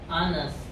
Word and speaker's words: honest: Nah, jadi ini bacanya bukan hones tapi anes.